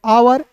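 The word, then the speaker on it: hour: एच ओ यू आर को पढ़ेंगे आवर।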